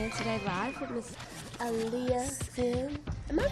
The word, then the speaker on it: Alia: radio we tuning in today live with Miss Aliah am I pronouncing that right cuz it's it's such a